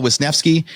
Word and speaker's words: Wisnefske: today I get to interview Al wisnevsky you know his name looks scary but I was able to pronounce it first try he's with land and